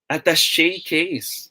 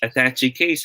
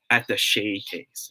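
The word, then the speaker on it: attaché case: face yo thank you the proper way to say this word is you guys are correct yes at the shay case okay it shouldn't be pronounced as attaching case huh okay it should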